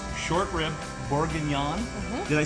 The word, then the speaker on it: bourguignon: It's short rib bourguignon. Did I say that right? You said it right. You can say bourguignon.